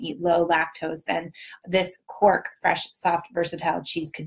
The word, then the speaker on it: quark: But they added something called quark. Am I saying it right? Kind of looks like quack, but with an R, which is a fresh, soft cheese that can be used in sweet and savory dishes.